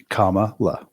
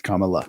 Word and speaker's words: Kamala: how you say it Kamal La ohal Kamala no it's Kamala I'm good with it